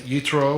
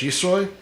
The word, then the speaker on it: Yitro: privilege of speaking on Parshat Yitro, or if you prefer the Ashkenaz pronunciation, Parshat Yisro.